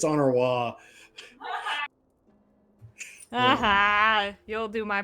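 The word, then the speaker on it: Honoroit: I said Honoroy because you said Honoroid. It's Honoroy.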